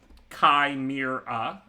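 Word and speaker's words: Chimera: As far as the commons, again, I mean, I like Daybreak and Loathsome Kai Mir. Kai, best Magic player. Mir rhymes with bear, and 3 syllables.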